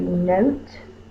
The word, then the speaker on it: note: We need the silent E to make the O say the long O sound. Note. You want to show the silent E jumps over the T and makes the O say the O sound.